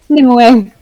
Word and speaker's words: Nimue: Nimue. Nimue, okay. That's how I've always heard it pronounced.